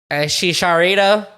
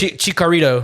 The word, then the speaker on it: Chicharito: time is Chicharito. Oh, Chicha's at number Or 4. let me say it the way Why the the fuck British. is- Let me say what the British say. Just Chicarito.